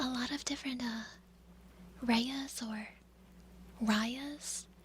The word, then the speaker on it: Raya: of different, Rayas or Rayas. I think it's mostly pronounced Raya. R-A-Y-A. I pronounced mine Raya because of rabies, but I've seen a lot of different, people with the name spelled like mine.